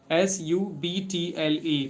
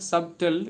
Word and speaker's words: subtle: the word is subtle S U B T L E. The pronunciation is not subtle. It is subtle. B is silent.